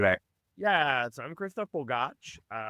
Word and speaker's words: Bogacs: Yeah, so I'm Christof Bogacs. So the last name, is pronounced Borg, like Borg through Star Trek, and Arch, like an arch.